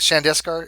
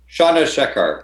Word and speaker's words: Chandrasekhar: But is it Shandeskar? Is that how you pronounce it? Shandeskar? Chandrasekhar. Yeah, Chandrasekhar.